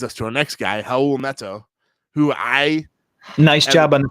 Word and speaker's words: Raul Neto: Rubio, which leads us to our next guy, Raul Neto, who Nice job on the pronunciation really quick.